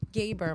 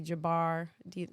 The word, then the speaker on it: Gaber: I almost was like, my name is Gaber. My name is Yeah. Gaber. Okay. It's actually spelled wrong. It's supposed to be Jabbar, but when they translated it from Arabic to English, they butchered the spelling.